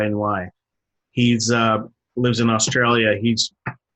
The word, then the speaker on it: Mahony: Paul Mahoney is, I guess how you pronounce it. It's Mahony.